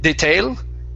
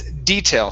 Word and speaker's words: detail: Okay, instead of detail, it's detail. Stress at the beginning, and that E is a long E sound.